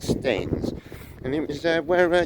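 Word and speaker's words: Staithes: seaside town of stamens s-t-a-i-t-h-e-s i think they're pronouncing that right stains and it was uh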